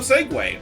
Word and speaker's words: segue: what is SE bottom seg way also can be heard in Tropical Coast Zone 3 and L Mountain zone is it not actually seu SE no it's it's segue it's and it's and